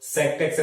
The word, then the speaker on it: sec: Pronunciations percent to percent very ಇರ್ತದೆ. ಒಬ್ರು sect x ಅಂತ ಹೇಳ್ಕೊಡ್ತಾರೆ, ಒಬ್ರು secant x ಅಂತ ಹೇಳ್ಕೊಡ್ತಾರೆ. ಎಸ್, secant x ಅಂತಾದ್ರೂ ಓದಿ, ಅಥವಾ sect x ಅಂತಾದ್ರೂ ಓದಿ, ಅಥವಾ sec x ಅಂತಾನು ಓದ್ತಾರೆ ಕೆಲವರು.